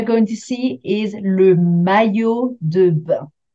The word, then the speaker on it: maillot de bain: Alors, the first one we are going to see is le maillot de bain. Not the easiest one to pronounce, le maillot de bain.